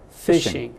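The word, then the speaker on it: phishing: your data so don't spell fishing yeah I it's spelled weird p i s h i a i n g yeah fishing p h i s h i n g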